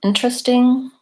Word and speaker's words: interesting: So for example, in the word different or interesting, I don't say different. This E is silent, and this E is the schwa sound. It sounds like different. And similarly, interesting is an sound. Interesting. Again, as long as I'm